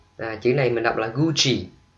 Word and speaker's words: Gucci: Chữ này mình đọc là Gucci, đọc theo tiếng Ý bởi vì nó có nguồn gốc từ tiếng Ý. Ok, chứ mình không đọc là Gucci, Gucci là sai. Ok, đọc là Gucci.